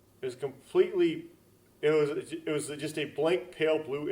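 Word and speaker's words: は: You have to write ha. Yeah, instead of wa. Even though you pronounce wa, you write ha.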